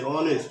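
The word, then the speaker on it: honest: তারপরে এখানে দেখো অনেস্ট, এইচটা নাই, ও থেকে আসছে অনেস্ট, আমরা কিন্তু হাওয়ারও বলছি না, হনেস্টও বলছি না।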